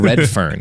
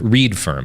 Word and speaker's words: Redfern: someone that works Graham Redfern which is also a pretty good name for example read firm actually but I think it's pronounced red fern it's